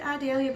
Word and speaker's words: Idalia: Yes, I said Idalia because we live just down from Vidalia, Georgia, and it's spelled the same without the V, so I'll just say Idalia.